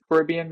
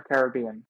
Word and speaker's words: Caribbean: quick pirates of the is it Caribbean or Caribbean how do you say I say Caribbean I say Caribbean yeah I think I said depending on the day I don't know which one it's acceptable either way yes yes I